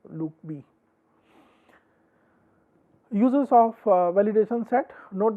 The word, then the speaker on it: LOOCV: Note that the cross validation is often abbreviated as CB, and leave one out cross validation is referred to as LOOCB and pronounced loop B.